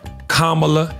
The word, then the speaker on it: Kamala: First you say comma like a comma in a sentence. Then you say la like la la la la la.